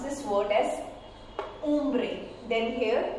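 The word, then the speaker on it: hombre: For example, if I pronounce this word as umbre, then here the H sound is silent. So it will be pronounced as ombre, ombre.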